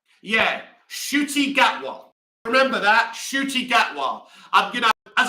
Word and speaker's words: Ncuti Gatwa: Yeah, Ncuti Gatwa. Remember that? Ncuti Gatwa. As I said when I came on, I had to call up a friend to let me know how to pronounce the lad's name because I really thought